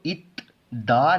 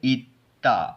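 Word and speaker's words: 있다: ठीक है, तो इसको इत दा नहीं पढ़ेंगे, इसको सिंपली पढ़ेंगे इत्ता।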